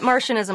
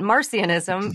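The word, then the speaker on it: Marcionism: is that mercianism marcianism okay not martianism like little green men but marcianism uh AKA marcian Who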